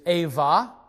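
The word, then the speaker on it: אֵיבָה: The Hebrew word here is ava. The Hebrew letter bait or B is going to sound like a V when it follows vowels, and so that's why in these words we hear V sounds.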